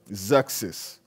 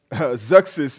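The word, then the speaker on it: Xerxes: BC and zexis now one of the most difficult names that have had to pronounce in the Bible is axis because it is spelled x ER x es zexis zexis is the king of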